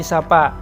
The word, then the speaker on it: sopo: Jawa sekarang memakai bunyi vokal huruf o bahasa panginyongan gunakan a contohnya Songo diucapkan Sanga piro menjadi Pira dan Sopo jadi sapa secara fonologi dialek Banyumasan